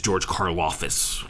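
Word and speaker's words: Karlaftis: uh the way the na the way you pronounce his name is george karloffus in case you were wondering uh this is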